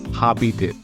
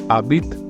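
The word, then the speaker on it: habite: you see AB so H is silent that's the reason why I'm not pronouncing it as habit I'm pronouncing it as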